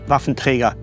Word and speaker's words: Waffenträger: And when I hear myself saying Waffenträger sounds actually very odd to me, I should say Waffenträger, that's the only way how to pronounce it.